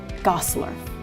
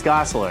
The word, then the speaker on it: Gosselaar: Mark Paul Gosselaar. Well done. Yeah. So many different pronunciations. Zach and Kelly, played by Mark Paul Gosselaar. Gosselaar. Is that right, Mark Paul? Close, it's Gosselaar.